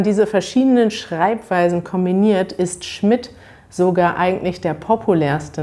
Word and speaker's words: Schmidt: hat interessanterweise verschiedene schreibweisen es gibt schmidt mit dt schmidt mit tt und schmidt mit nur mit de sowie mein nachname der wird nämlich nur mit dem gesprochen sie werden aber alle gleich ausgesprochen sie sind also homophon und wenn man diese